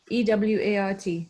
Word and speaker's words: Ewart: E-W-A-R-T. It's pronounced Ewart.